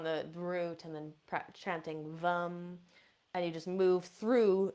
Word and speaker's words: vam: The seed sound for the sacral chakra is Vam. It's spelled Vam.